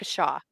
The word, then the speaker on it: Waukesha: Wa rhymes with Uh, Waukesha. rock, Waukesha.